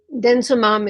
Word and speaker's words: denosumab: And denosumab is, spelled a different way than it's pronounced, actually.